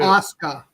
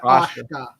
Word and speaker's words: Asuka: For the love of God, would you please say her name correctly? Who? Asuka, not Asuka.